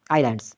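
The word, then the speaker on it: islands: जो साइलेंट क्या है ये पहले वाला आई एस एल ए एंड डी आइलैंड्स तो इसमें साइलेंट क्या है एस है उम्मीद है कि इस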